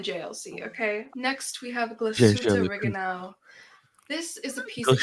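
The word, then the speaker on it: Glashütte Original: How do you pronounce original? The Glasuta Reganal.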